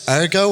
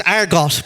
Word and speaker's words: Argot: Is it Argo, or Argot? Argos, it's Argot, but I'm a fucking idiot and can't.